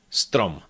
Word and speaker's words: strom: Combine the first 2 consonants, st, st, st. Then add ro, ro, stro, stro, and add the last consonant, strom, strom.